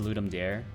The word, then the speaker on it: Ludum Dare: Looks like it's pronounced Ludum Dare.